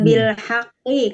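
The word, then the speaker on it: بالحق: Nah, ada di selanjutnya sebetulnya ada nih yahduna bil haqqi, kan ada yahduna bil haqqi ketika diwakofkan membacanya jadi sukun bil haq bil haq.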